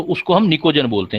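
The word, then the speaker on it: pnictogen: अगर हमारे पास 15 number group है, 15 नंबर ग्रुप को निकोजन बोलते हैं, पी साइलेंट रहता है बेटा, निकोजन।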